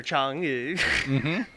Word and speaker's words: Chang'e: It's named after Chang'e. That makes sense. One more Spelled time. like What is Cha- it? Chang'e. It's spelled like Chang apostrophe E.